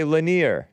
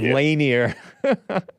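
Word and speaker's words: Lanier: from yeah popcorn oh that name is lenir oh okay lenir that's how you pronounce it instead of laner the Confederate guy yeah it's lenir yeah like like Bob lanir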